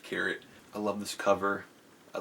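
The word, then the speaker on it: Kehret: is by peg carrot is a carrot it gets pronounced to carrot I love this cover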